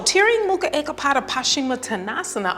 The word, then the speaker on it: Tiryang Mukha Ekapada Paschimattanasana: It's pronounced Tiryang Mukha Ekapada Paschimattanasana. One more time. Tiryang Mukha Ekapada Paschimattanasana.